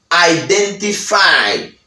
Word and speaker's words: identify: La otra palabra que tenemos, el número 12, c'est identify, identification. Pero los americanos, américains, disent identify. Identify, parce que pas prononcer T.